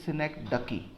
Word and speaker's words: synecdoche: The correct pronunciation of this word is synecdoche, but okay, we will pronounce it as synecdoche.